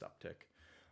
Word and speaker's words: UpTk: rebranded to upk doio it's still pronounced uptick um thank you very